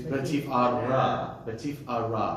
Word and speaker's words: betifara: But there's no meteg under the of betifara. It's the second to last of the brachot, right? It's betifara, right? Baruch atah Adonai Eloheinu melech haolam, Oter Yisrael betifara, ra. So the accent goes on the.